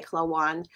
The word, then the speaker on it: Klawonn: dear friend clawoon how do you say your last name my Philadelphia accent coming into play clawan is an integrative